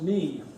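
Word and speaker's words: 你: It's pronounced ni.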